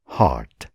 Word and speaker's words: heart: ही इज अ हार्ट patient, उहाँ मुटुको रोगी हुनुहुन्छ। ही इज अ हार्ट patient. यो शब्दको उच्चारण सुन्नुहोस् त, हार्ट, हर्ट होइन, हार्ट।